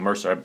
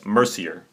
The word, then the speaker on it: Mercier: a awesome oh sorry I've been saying your last name wrong Mercer Mercier Mercier sorry about my my